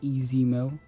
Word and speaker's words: EZ Mil: also just like to correct uh the pronunciation of my name it is easy mill this is a meal